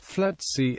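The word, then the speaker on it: FLETC: law enforcement agencies the FC commonly pronounced flaty is a Consolidated training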